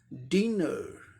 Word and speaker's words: dinner: American English pronunciation में क्या होगा, ए आर का भी साउंड आएगा, रॉ, डिनर, डिनर।